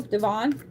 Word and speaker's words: Devon: So my younger sister, her middle name is Devon, and it's spelled like that, D-E-V-O-N. And so I always have to ask people, is it Devin or is it Devon? Because, yeah, hers is Devon.